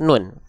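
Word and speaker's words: نون: namanya adalah huruf huruf nun oke namanya adalah huruf nun huruf nun ini dilafalkan persis sebagaimana kita melafalkan huruf N pada abjad alfabet persis jadi teman-teman enggak perlu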